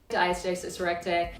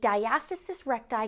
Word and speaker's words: diastasis recti: I think it's important to know how to pronounce the condition. Diastasis Recti. Diastasis Recti. Diastasis Recti.